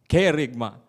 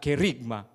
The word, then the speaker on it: kerygma: Kerygma. The accent, it should be there, the first syllable. Kerygma, not kerygma. That's wrong.